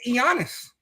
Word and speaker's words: Giannis: His name is Giannis. The K is silent, but you don't say knife. It's Greek. That's how you say the G and the I in the Greek.